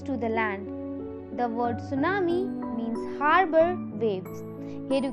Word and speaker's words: tsunami: In tsunami, the T is silent, and tsunami are a series of high waves that are caused due to undersea earthquake of volcanic eruption.